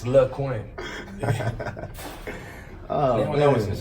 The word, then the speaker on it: LyQuin: I always pronounce it LyQuin in my head. Just, Yeah, people be just calling just Lysol, disclaimer, NyQuil, yeah. all type of shit. I'm like, it's LyQuin.